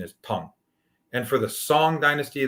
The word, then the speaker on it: Song: And for the Song Dynasty, the correct pronunciation is Sung, like S-U-N-G.